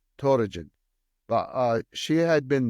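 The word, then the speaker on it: Töregene: who oversaw that just her name dorin which is e and D are the same in Mongolian but usually we spell it t o r e g n e toin but uh she had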